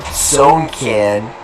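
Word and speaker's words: Sewnkin: First, their name is spelled out letter by letter, S-E-W-N-K-I-N, Sonekin.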